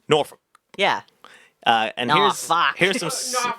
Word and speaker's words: Norfuk: Yes, the language is spelled Norfuk. It's Norfolk.